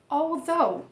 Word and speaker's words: although: Então a gente vai dizer all, puxando um Lzinho aqui, ó. All, desse L a gente já vai emendar no V, TH vozeado, terminar com O, although.